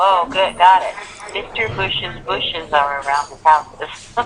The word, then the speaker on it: Bush's: So, President Bush's paintings were on display. It sounds like it it actually sounds exactly like bushes.